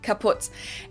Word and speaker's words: kaputt: We spell it with 2 T's in Germany, but we pronounce it the same way, kaput.